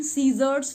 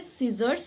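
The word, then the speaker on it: scissors: सबसे पहले इसका प्रोनाउंसिएशन सीजर्स नहीं होता, सी नहीं, बड़ी की मात्रा नहीं लगाएंगे आप, छोटी की मात्रा लगाएंगे. तो सही वर्ड है सीजर्स, यानी एस लगा कर ही हमें हमेशा बोलना चाहिए, सीजर्स.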